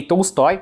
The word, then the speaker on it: Tolstoy: tsoy ela tem razão no Russo a sílaba tônica o O Vira a quando não é tônico então fica tsoi mas ninguém fala taoi né E a mulher